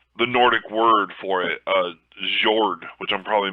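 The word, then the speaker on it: Jörd: for it was the Nordic word for it, Jord, which I'm probably mispronouncing it terribly. Yeah. It's like J-O with the umlaut and R-D. Yeah. Which It's pronounced was their like word for Jord. Earth. It's pronounced Jord.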